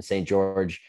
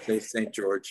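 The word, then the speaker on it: St. Georges: Yeah, so we're playing in Delaware, in St. George. Do you say St. George, or do you pronounce the S on that? You don't pronounce the S, right?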